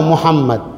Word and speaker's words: মুহাম্মদ: টান দিচ্ছে, আরেকটা ভুল, মুহাম্মদ পড়ছে না, মুহাম্মদ পড়ছে, নামকে বিকৃত করে পড়ছে, মুহাম্মদ মোহাম্মদ, নবী সাল্লাল্লাহু আলাইহি নাম কি মোহাম্মদ, উচ্চারণ করতে গেলে দুটি ঠোঁট লাগবে, এই নাম আল্লাহ তাআলা